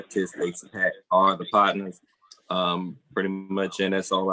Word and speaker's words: Podnas: So if you wonder how to say it, you say it like, Podnas, man. Just Podnas, man. Like a pod. Nas. Podnas.